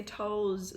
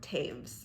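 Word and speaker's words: Toews: I can never say her name because I want to say Toes so bad when it's not Toes. Miriam Taves.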